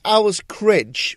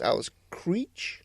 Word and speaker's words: Krige: see her I was I was well it's Al's criid we pronounced the name as and we really we later found out it was called Al she was pronounced Alice Cree yeah but she didn't correct us she didn't